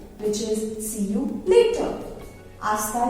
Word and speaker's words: hasta: Hasta luego, again remember it is silent.